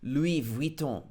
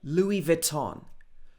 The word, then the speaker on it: Louis Vuitton: So probably in France or in French, it would be Louis Vuitton, something like that. But in the UK, normally we would say Louis Vuitton. Louis Vuitton. Maybe not right, but that's how we say it.